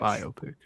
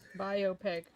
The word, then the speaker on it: biopic: Bopic. Biopic. Yeah, the right pronunciation.